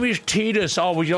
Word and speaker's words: Tidus: Yeah, it's Titus. It sounds so much cooler, man. His name is Tetus. Oh, would you like soy milk with that pronunciation?